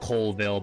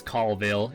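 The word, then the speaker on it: Colville: If you're up in this northern part up near Newport, Washington, Calville, as they say, it sounds like Coleville, but it's Cville is how they pronounce it.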